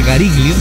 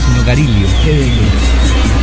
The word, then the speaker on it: Gariglio: dice garil se admira es porque en italiano la g y la l se pronuncia solo la l no se dice gariglio garili el juego por la